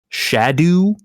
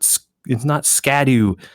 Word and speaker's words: Scadu: And apparently this word in Old English is kind of pronounced like closer to shadow.